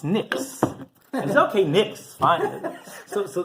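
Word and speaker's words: Knicks: for the fifth time it's not kcks it's a silent k it's Nicks and the rebi goes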